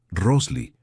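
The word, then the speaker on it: росли: «Se pronuncia Rosli.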